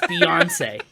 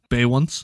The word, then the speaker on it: Beyoncé: Yes, Beyoncé. I thought it was just Bay once. Bay once? No.